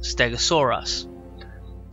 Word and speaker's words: Stegosaurus: oh oh a CH sorr SOR e us Stegosaurus and it says up to 30 feet in